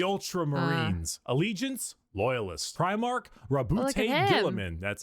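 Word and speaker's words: Roboute Guilliman: Rabbout Gillaman.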